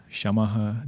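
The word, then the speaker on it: शमः: Shamaha, Dhamaha, Uparamaha, please pronounce with the Visarga. Don't call it as Sham, Dham, Uparam.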